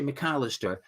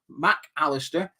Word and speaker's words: Mac Allister: It's hard to say his name without saying it as one word, isn't it? It's tempting to just say McAllister. Mac Allister in the number 10 role, as well as Pascal Gross as well.